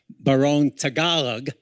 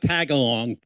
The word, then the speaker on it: Tagalog: And uh though the Tagalog is not that's now the national language and this is the national shirt baron Tagalog not tag along Tagalog it's pronounced and uh I was